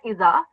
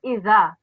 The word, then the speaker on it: إذا: So the way you pronounce this is not like iza, it's iza.